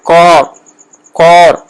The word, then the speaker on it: کار: یعنی اگر ہم اردو میں بولتے ہیں کار، تو اس میں فارسی میں اگر ہم بولیں گے تو کار نہیں کہیں، کور. اس میں ہمیں او کا جو ہے تلفظ او کا آئے گا، کور. صحیح کار کو پڑھیں گے تو کور پڑھیں گے تو وہ صحیح ایرانی تلفظ، جدید تلفظ ہو جائے گا.